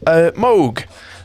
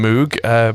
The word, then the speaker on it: Moog: Moog, some people call them Moog, but apparently that's how it's pronounced.